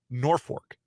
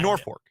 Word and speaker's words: Norfolk: And you pronounce it Norfolk. No. There is no R. I mean, there is, but no second R.